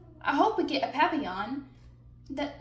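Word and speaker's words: papillon: hope we get a papon that like our neighbor's dog you say it like this papy yaan in French it means butterfly I help M Mrs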